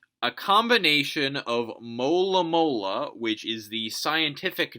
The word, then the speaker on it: Alomomola: Each syllable's distinct, whereas A-lo-mo-mo-la. You got two momos in a row, you got al and lo and la. They're all very similar.